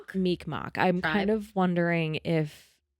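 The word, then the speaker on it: Mi'kmaq: represents part of I don't remember how you pronounce it. Meekmok. Meekmok.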